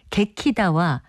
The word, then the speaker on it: 개키다: 개키다 같은 표현으로도 씁니다 개키다 갱 키다 발음하게 된 것은 아마도 두 번째 음절의 추성 키과 좋은 위치가 같은 이응 받침을 넣어서 발음하는 편이 더 쉽기 때문에 나타나는 현상으로 보입니다 아침에 일어나면 침대 위를